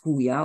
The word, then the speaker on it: Huya: It should be pronounced as Huya, of course, because any J at the beginning of a Spanish word is pronounced with an H.